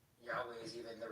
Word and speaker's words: Yahweh: So Yahweh is is really what the best Hebrew uh translation would be or like pronunciation. There's so much history around unclear if Yahweh is even the right way to pronounce it.